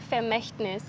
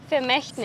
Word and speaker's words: Vermächtnis: Vermächtnis ये फी होता है, F से स्टार्ट होता है, ये V से स्टार्ट हो रहा है। तो V हम प्रोनाउंस करते हैं। तो आप लोग गलत प्रोनाउंस कर रहे हो।